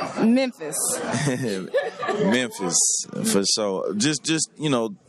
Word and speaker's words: Memphis: Everybody from the city say it a different way, but you know, it's Memphis. Memphis. Memphis. Yeah, like Memphis. So you do pronounce the M. Yeah, Mem.